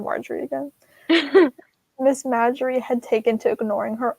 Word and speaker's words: Marjorie: I always pronounced it Marjorie in my head, but I always pronounce it Marjorie too. it's not Marjorie. Oh. It's Marjorie.